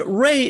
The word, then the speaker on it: Wray: And Ray is spelled W-R-A-Y for those listening in the audio only.